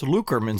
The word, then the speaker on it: Lockerman: on Lockerman Street, and I look at the sign, and it's Lukerman Street.